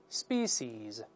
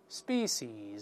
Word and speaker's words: species: 个也能发成 s 的音，在里面 species species，我们在美剧中也听到过 species 或者 species 都行， species species 都